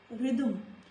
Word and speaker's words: rhythm: There are some more words in which letter H is silent, like rhythm, rhythm, rhythm.